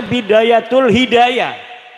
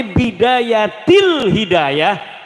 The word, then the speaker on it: Bidayatil Hidayah: Karena deke maca Bidayatul Hidayah. Harus bah dibacanya Bidayatil Hidayah karena ana huruf jer B.